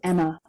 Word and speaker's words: Emma: I wrote back, it's pronounced Emma.